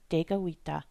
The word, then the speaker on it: Tekakwitha: So for English speakers, the important thing to remember is that the letter K gets a G sound.